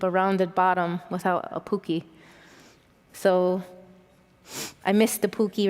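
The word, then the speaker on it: puki: I wish I would have brought my Pookie bottom that I was kind of picked up from the Southwest Potter friends.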